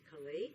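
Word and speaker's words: Caillat: It's a fella named Jason Mraz, and he's got a gal singing with him called Colby, not sure how to pronounce her last name, Calais, maybe? Yes.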